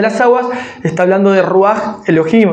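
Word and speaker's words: רוח: De hecho, la palabra espíritu en hebreo se se pronuncia ruaj y esa palabra en hebreo se complementa con Elohim, ruaj Elohim que es el espíritu de Dios.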